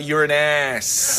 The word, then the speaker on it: Uranus: wasn't saying you're as I'm saying Uranus that's the name of the place how's your name of the planet man another pronunciation is you're an ass yeah yeah it's a